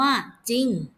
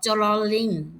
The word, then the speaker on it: จริง: เรือ เช่น คำ ว่า จริง เวลา เรา อ่าน จะ ออก เสียง แค่ จาน เพียง ตัว เดียว ไม่ ก็ จะ เป็น จ อิ ง จริง ไม่ ออก จรลลิง อย่าง นี้ นะ คะ